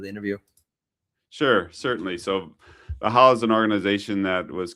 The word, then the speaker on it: Valhalla: Valhalla yeah, Private Valhalla.